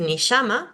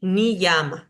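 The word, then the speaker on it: niyama: más suavecito, yoga, pero en el interior de una palabra lo voy a decir como una I. No voy a decir ni llama, voy a decir ni llama, ni llama.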